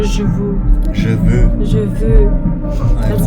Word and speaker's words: Je veux: How do you pronounce this title? Je veux. Je veux.